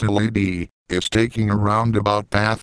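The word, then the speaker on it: LADEE: the lunar atmosphere and dust environment Explorer or pronounced lady is taking a roundabout path to the Moon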